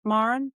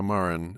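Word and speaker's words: Maurin: Maren. Yeah, Maren.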